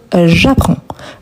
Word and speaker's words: j'apprends: On ne le prononce pas. On ne prononce pas non plus le D, mais on doit les écrire. Donc, j'apprends.